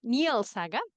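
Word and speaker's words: Njáls saga: We have all nor sagas in translation N neal saga that's the correct pronunciation or we have exploring talking be wolf the monsters and the critics.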